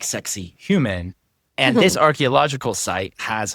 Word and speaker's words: Saqsaywaman: It's spelled like sexy woman. You're supposed to say it like sexy human.